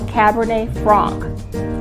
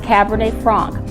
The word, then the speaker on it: Cabernet Franc: France and it's called Cabernet Fran it isn't pronounced Frank there's no K in it it's pronounced Cabernet Fran it's often uh substituted